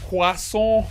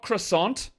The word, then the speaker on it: croissant: is national quason day not croissant it's a quas quas how wanky does it sound it sounds pretty wanky but I know that's how it's said I know that's how it's pronounced in French I know that it's